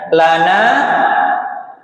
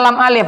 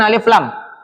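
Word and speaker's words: لا: Bacanya lam alif bukan alif lam. Lam dulu baru alif. namanya la gitu ya.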